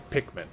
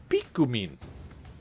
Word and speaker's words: Pikmin: The English pronunciation might very well be Pikmin. But, based on the kana that that Dan posted there, the Japanese pronunciation would be Pikumin.